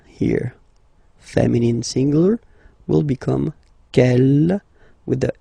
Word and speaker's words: quelle: Okay, quel here, feminine singular, will become quelle with the S, feminine plural. And the good news is that you will pronounce them the same way.